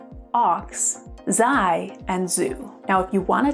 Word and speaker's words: xu: And XU, pronounced Zu, is a monetary unit in Vietnamese currency.